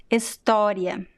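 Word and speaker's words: história: together estoria estoria estoria so see that the last o here is at the end of a word and it is in a weak syllable so in this case most of the time this o sounds like a very weak this varies a little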